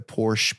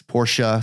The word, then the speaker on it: Porsche: things we went to the Porsche place Porsche sorry that's how you say it recent Porsches yeah we